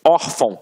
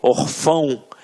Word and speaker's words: órfão: Até mesmo porque se fosse um acento, a gente não ia falar órfão. A gente ia falar o quê? Orfão. E não é o caso. Então aqui, reparem que a sílaba tônica está na penúltima sílaba.